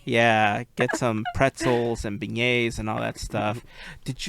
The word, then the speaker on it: beignet: pronunciation. It says beignet. Like Okay, so it is right then. So it is beignet.